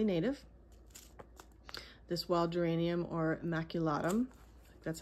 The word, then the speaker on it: maculatum: This wild geranium, or maculatum, that's how you say it, and this other one, this is a geranium carolinium.